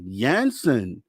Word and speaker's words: Jansen: I've been saying Jansen, but listening to Dave, I'm assuming it's a soft J. So it's Jansen. Tell me if I'm right.